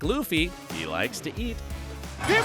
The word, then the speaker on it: Luffy: to pronounce it correctly it's Luffy luy ly it's Luffy not Luffy Luffy Luffy Luffy Luffy